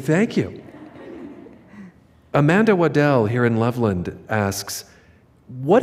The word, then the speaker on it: Waddell: Will you pronounce your last name? You said it right. I did. Okay, good. Good job. Thank you. Amanda Waddell here in Loveland asks,